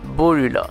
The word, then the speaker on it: Borula: Or, en japonais, le R se prononce L, donc Borula.